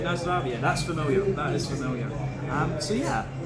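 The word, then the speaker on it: Наздравје: Nazdravje. Okay, right, Nazdravje.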